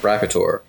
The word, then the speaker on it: Rapator: It is spelled Rapator, so it is pronounced Rapator.